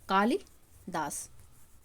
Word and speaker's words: कालिदास: तरीके से लिखा जाएगा क्योंकि कभी-कभी हम जो पढ़ते रहते हैं वही उच्चारण में हम करने भी लगते हैं जैसे कालिदास पढ़ते हैं कभी नहीं पढ़ेंगे कालिदास अगर हम कालिदास पढ़े तो हमको लिखने में भी आसानी हो इसीलिए उच्चारण हमेशा उचित तरीके से करना चाहिए तो यह वाक्य बिल्कुल